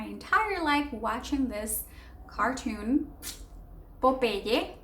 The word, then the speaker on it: Popeye: Of course, in English, when you see pop and then I, it's Popeye, Popeye. But of course, we try to Spanishize things and we say Popeye. But like I said, Popeye, Popeye.